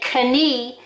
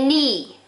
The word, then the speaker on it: knee: this is a knee there's our silent letters k n you don't say kani you say knee silent letters now put